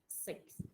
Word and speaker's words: six: It's like the word sick with an S.